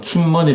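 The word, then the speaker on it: 金門: 그분도 라는 섬이 있는데 중국 발음으로 는 킴 뭐니 라고 하죠 중국 본토에서 불과 일선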